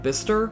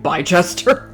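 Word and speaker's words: Bicester: So when I lived in Oxford, there's a like a town like a village kind of town nearby called Bister, but it's spelled like Bchester. So I insisted on calling it by Chester.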